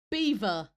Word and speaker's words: Belvoir: Yes, the name Belvoir is pronounced, this is thank you, Google, like the animal beaver.